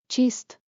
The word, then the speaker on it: چیست: Tip, chist rhymes with gist.